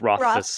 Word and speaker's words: Rothfuss: I believe it's Rothfuss.